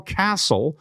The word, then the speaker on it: castle: So if you can spell castle with the silent T, then you can have Journey to the Castle for free, right?